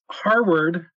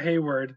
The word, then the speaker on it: Harward: Well, Harward, not Hayward.